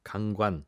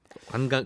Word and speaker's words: 강관: 38조 물들었다 라고 하거든요 강관 강관 었소 파이프 맞습니다 예 발음을 잘 해야 되는데 이에 강 관 관광 관광이 아니죠 그러니까 그 여행 다니는게